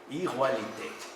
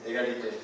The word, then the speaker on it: égalité: Revolución Francesa, a través de una simple palabra, igualité. ¿Sí se pronuncia así? Égalité.